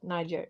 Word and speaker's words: Niger: And also the Wagner group, they are helping Niger, how do you say that? Niger, yeah, to get rid of the French and the Americans And the Swedes.